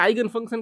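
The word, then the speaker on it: eigenfunction: अब देखिए eigen values समझने से पहले आपको इगन फंक्शन के बारे में समझना जरूरी है, या आइगन फंक्शन के बारे में आप कुछ भी तरह प्रोनाउंस कर सकते हैं।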